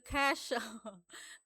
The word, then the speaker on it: Cache: Kita cari tahu gimana sih cara bacanya clear cace gitu ya. Clear cash.